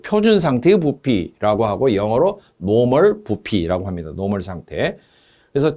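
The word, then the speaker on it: normal: 노멀이라고 N자가 부피 단위 앞에 붙어 있으면은 기체 부피를 특별히 나타낼 때 일기압 0도씨 상태일 때의 부피를 노멀자를 붙여요. 노멀. 일본식 발음은 노르말.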